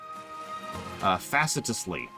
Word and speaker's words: facetiously: It's actually facetiously, which is absolutely not at all how it looks like it's pronounced, because English!